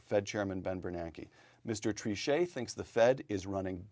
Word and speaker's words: Trichet: In public statements, the Journal noted, Jean-Claude Trichet, throwing a little French pronunciation to raise the tone here, quote, came about